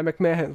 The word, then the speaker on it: McMahon: Also Man wie Mann, Mensch. Man spricht so aus, Vince McMahon, so vielleicht kann man ganz korrekt sagen, Vince McMahon.